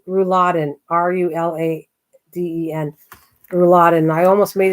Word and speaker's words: rouladen: and Chef knows about it too it's called rouladen r-u-l-a-d-e-n rouladen I almost made it again with